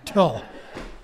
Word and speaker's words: teal: The teal. The teal. And tie-dye. All right, thank you. Or as Daryl pronounces it, Till, because Daryl is from Utah.